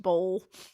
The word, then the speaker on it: boil: It's spelled boil, but it's just pronounced bowl.